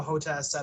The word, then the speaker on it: HOTAS: I'd rather have a HOTAS set up as well. What was this? I'd rather have a HOTAS. Yeah. Hands-on throttle and It's pronounced hot ass.